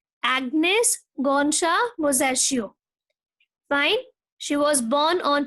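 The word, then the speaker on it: Agnes Gonxha Bojaxhiu: How to pronounce? Agnes Gonsha Bozaccio. I hope it's clear to you. You can even Google out for the pronunciation. Agnes Gonsha Bozaccio.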